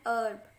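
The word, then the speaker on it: herb: एन अर्ब, अर्ब में भी H साइलेंट होता है, इसलिए ERB उस पर फोकस करेंगे, जो कि E से यूज हो रहा है।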